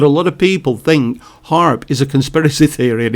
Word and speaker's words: HAARP: years ago not just what's happening now now haarp is i'll tell you again it's it's spelt h a a r p and it's an abbreviation which stands for high frequency active oral research program harp now the information again is freely available on